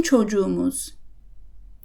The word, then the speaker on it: çocuğumuz: Çocuk ends in a K, which will become a soft G. Bizim çocuğumuz.